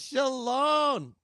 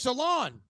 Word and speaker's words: Sholon: I'm excited is Miss shalom oh my God I said it wrong yes salon Salon you know what again